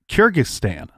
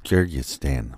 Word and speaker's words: Kyrgyzstan: So he got a wife named Larissa from Kyrgyzstan. Don't make me say that again because I said it wrong the first time. Kyrgyzstan.